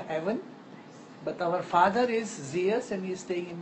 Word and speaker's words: Zeus: Zeus. Okay, we say Zeus. Zeus. How do you spell it?